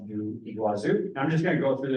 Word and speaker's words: Iguazu: a domestic flight from Salo over to fazu Iguazu is how it's pronounced so it's right on the border you